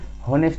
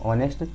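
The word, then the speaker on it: honest: ऐसे आपका आता है एक ऑनेस्ट मैन, ऑनेस्ट, अगर कोई ईमानदार आदमी है एन ऑनेस्ट मैन, तो इसको हम हॉनेस्ट नहीं पढ़ेंगे, इसको पढ़ेंगे ऑनेस्ट, इसलिए इससे पहले हमें लगाना पड़ेगा ए एन।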